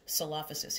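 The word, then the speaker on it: Coelophysis: This is pronounced Salophysis.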